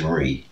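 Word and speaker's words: rí: yeah that makes sense because king and irish is re or i fada that's king so that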